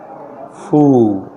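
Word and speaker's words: foe: silence silence silence खामोशी फू फू फू इसमें ई साइलेंट हो जाता है एच की आवाज आती है यह बात याद रखिएगा दुश्मन को कहते हैं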